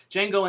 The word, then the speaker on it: Django: So in the old days, when you took a file and it was really large, like I just downloaded Django Unchained, the D is silent. Django Unchained last night.